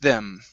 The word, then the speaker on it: them: It's kind of think of it like a theta, but it's going to be a voiced sound. So it's going to be the, okay, you're going to have a sound here, but your tongue is going to be between your teeth.